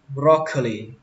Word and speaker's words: broccoli: Súp lơ xanh thì các bạn đọc là broccoli. Broccoli. Broccoli. Các bạn lên giọng broc và xuống giọng curly.